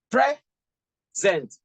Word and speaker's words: present: Pre goes up. Zent. Present. Okay?